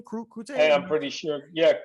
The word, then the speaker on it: Crute: Is that how you pronounce that name? Crute? Hey, I'm pretty sure. Yeah, Crute.